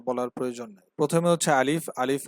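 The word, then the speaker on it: ا: প্রথমে হচ্ছে আলিফ। আলিফ উচ্চারণের সময় সামনের উপরে দুইটা দাঁতকে আমরা নিচের ঠোঁটের সাথে লাগিয়ে দেব এবং উচ্চারণ যখন হবে তখন দেখবেন যে মুখ থেকে একটু বাতাস বের হয়।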